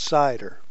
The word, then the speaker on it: CIDR: as classless inter-domain routing you'll see it abbreviated CIDR and pronounced cider cider generalizes the notion